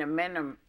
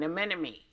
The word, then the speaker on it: anemone: I would think, aside from being the life of the party, you would probably be an amenum. An anemone.